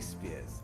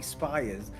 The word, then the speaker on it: Spears: that is incredible Harry Spears incredible I've been getting your name wrong most of the Season calling you Harry spiers I don't think I'm